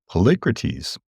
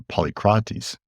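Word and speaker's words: Polycrates: Policrates or Polycaris depending on however you want to pronounce it who was tyrant at Samos at the time of Cambases.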